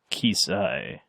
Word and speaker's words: Keysi: I have a pronunciation. Finally. Cover my mistakes. Keysi.